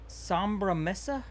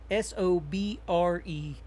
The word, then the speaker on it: Sobremesa: Sobri Mesa. I don't know. I have no idea. Sobremesa. Sobre mesa. Yeah, I'm sure there's some kind of You have to roll your R's.